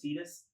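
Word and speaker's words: Tidus: I really liked it that's the one with Titus that is how you say his name get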